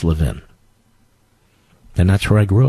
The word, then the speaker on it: Levin: It's Levin, but thank you, sir. We appreciate it. In Philadelphia, it's pronounced Levin.